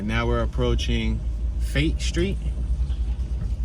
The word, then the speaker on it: Fayette: right now we're approaching fate street it's f-a-y-e-t-t-e it could be pronounced fayette but i believe it's fate street we got a grocery